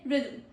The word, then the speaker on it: rhythm: Pro tip is no vowel between rhythm. No vowel. No vowel. No vowel between rhythm. They just say rhythm.